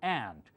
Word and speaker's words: aunt: Aunt, Americans call it ant, just like little ants, the insect.